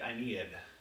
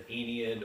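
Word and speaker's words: Aeneid: have ever read the I needed the anian or depending on how your teacher happened to pronounce it have you guys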